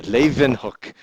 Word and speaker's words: Leeuwenhoek: She even got the V in there. Leeuwenhoek.